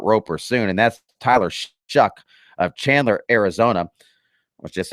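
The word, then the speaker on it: Shough: shuck that's spelled s h u g but pronounced shuck uh he received his first Power five offer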